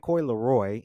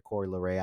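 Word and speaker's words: Coi Leray: I kept saying Coy Leroy, and my friends kept clowning me for that. I'm sorry, Coy Leray.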